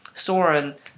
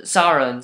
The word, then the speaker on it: Sauron: Why am I thinking of Saren, or Sauron, sorry, pronunciation just butchering right there, sorry guys.